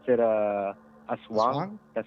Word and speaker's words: aswang: We pronounce it aswang.